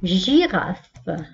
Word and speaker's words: girafe: Girafe. Le G هنا نطقناه J. on a prononcé le G comme J, une girafe.